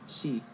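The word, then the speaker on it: 四: Do you know how to pronounce it? Shi.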